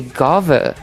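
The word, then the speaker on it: Guinevere: Guineaver is French. So in French there's a lot of silent letters and because of that you actually do not pronounce the N and the I's her name is actually Gav.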